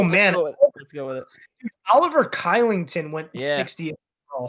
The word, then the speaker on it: Oliver: Oliver Kylington went Yeah. 60. Oh, holy cow. His name is actually pronounced Shillington.